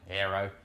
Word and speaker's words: Airoh: Now Airoh is a bit of a weird one, it's spelt Airoh. I'm Australian, Airoh. But in Italy, they pronounce this Airoh.